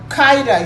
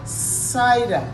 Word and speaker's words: cider: so it is soft so you don't say kaida you say cider it's soft you say